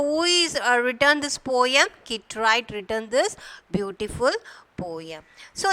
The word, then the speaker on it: Kit Wright: So here W is silent. You have to pronounce as Kit Wright.